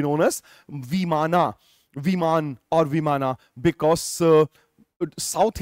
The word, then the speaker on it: विमान: विमान, which is phonetically pronounced as विमाना, otherwise there is no such term called विमाना। विमान होता है, विमाना कुछ नहीं होता है। वो अंग्रेजी में, इंग्लिश में, फोनेटिक्स में उसको विमाना कर दिया गया है।